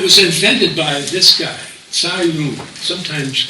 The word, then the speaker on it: Cai Lun: It was invented by this guy, Cai Lun, sometimes pronounced Kai Lun, in 105 AD.